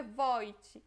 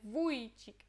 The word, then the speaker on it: Wójcik: Não é O com acento, não é Wojcik, né? É Wójcik, é U, ok? É a letra U.